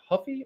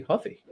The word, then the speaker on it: Ruffy: Is it Huffy or Ruffy? Ruffy. He's Brazilian. He's part of the Oh, yeah. Yeah. So, don't they pronounce the R with an H in?